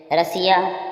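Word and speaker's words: Russia: fest नीग्रोजीएनएक्सएक्स आलू में S double S के आगे आई ए आई ओ एन आदि वर्ण हो तो एस का उच्चारण सा होता है जैसे रशिया रशिया मींस रूस क्या हुआ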